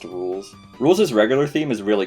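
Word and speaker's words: Rouxls: I love how nobody knew how to pronounce Rules' dumb as fuck name, so Toby named his battle theme It's Pronounced Rules.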